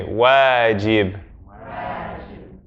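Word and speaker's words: واجب: Everyone say for me, wajib. Wajib. So you see how the wow, it's not an oo, it's a wa sound.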